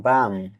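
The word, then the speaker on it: balm: এর পরে কে আছে বি এ এল এম বাম সুগন্ধ মলম এখানেও এল লেটার সাইলেন্ট থাকবে সি এ এল এফ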